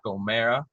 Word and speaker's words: O'Marra: excited to have jack o'mara on the show i said it right jack so for anyone who is wondering it's oh man yes not on aura or whatever but um pleasure to